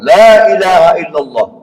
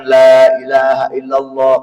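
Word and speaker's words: لا إله إلا الله: lagi illallah buka lagi ada enggak bibir kita ketemu Pak ketika Bapak mengucapkan Lailahaillallah Kalau bertemu berarti salah Bapak bacanya lailahaillall salah lam ilah salah bibir enggak boleh ketemu atas sama bawah itu maknanya faedahnya apa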